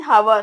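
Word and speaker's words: hour: ഇപ്പൊ ആൻ ഹവർ, ഹവർ എന്ന് പറഞ്ഞാൽ എച്ച് അവിടെ സൈലന്റ് ആ വരുന്നത്.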